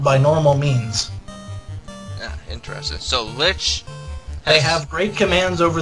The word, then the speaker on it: Lich: Rises and an evil shape congeals it is Lich the the fiend of Earth lies get stitches if you get attacked by Lich what is it it rhymes with [ __